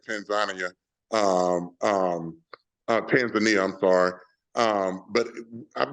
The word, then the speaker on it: Tanzania: I've been to, people say Tanzania, but the way they pronounce it there is Tanzania.